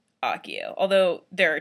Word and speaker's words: Accio: I say Osseo, but in the movies it's Accio, and since J.K. Rowling approved that, it's Accio.